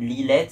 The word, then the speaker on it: Lislette: J'ai trouvé le éventuellement le Porsche, l'entrée du château de Lilette, si vous connaissez. Enfin, ça s'écrit Lislette, mais c'est juste après Azelrido sur la route de Langet, mais ça dépend encore de la commune d'Azelrido.